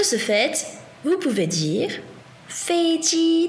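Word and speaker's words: 飞机: Un avion, en chinois, c'est 飞机. 飞机. Attention à bien respecter le premier ton. De ce fait, vous pouvez dire 飞机在哪里? 飞机在哪里?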